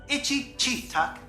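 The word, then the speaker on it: Attichitcuk: more star wars-y actually their names were shortened so that it would be easier for children to remember their true pronunciation is itchy tuck thank you artu it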